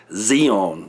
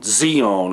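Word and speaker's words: ציון: about Zion and Zionism Xion Xion is actually how you'd say it in Hebrew but at any rate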